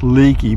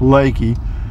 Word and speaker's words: Leakey: town that spelled la ke Y should be pronounced Leakey but it's not it's pronounced Leakey it's a little bitty town I want probably